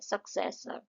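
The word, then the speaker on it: successor: सक्सेसर में तीन syllables हैं। सक्सेसर यहां पे जो बीच वाला है उसमें हम ज्यादा फोकस कर रहे हैं। तो वो जो है हमारा मेन सिलेबल है सक्सेसर।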